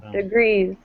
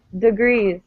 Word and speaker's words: degrees: awesome beginning and degrees i'm saying it's at the end degrees and notice again i'm pronouncing this e as an uh sound degrees right because good because